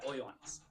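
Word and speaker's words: ὁ Ἰωάννης: Yeah, O Ioannis.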